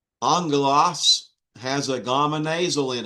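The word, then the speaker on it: ἄγγελος: Angelos has a gamma nasal in it. That was on your quiz. It's a gamma nasal and it's pronounced NG.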